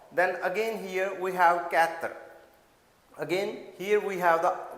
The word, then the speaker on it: quatre: Don't say it quatre. Don't I mean to say stretch the sound of r. Just make it really a few just it seems like that you were saying that but doesn't stretch it too much. So it should be quatre.